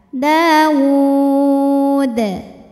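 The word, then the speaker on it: داود: Dawud. Huruf dalnya apabila berhenti hukumnya adalah qalqalah kubra, karena sukunnya tidak asli ya, melainkan disukunkan karena berhenti. Dibacanya dipantulkan dengan pantulan yang besar.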